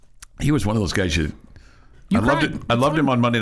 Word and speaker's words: Guy: It's Guy, but it's Guy Lafleur. Is it Guy Lafleur?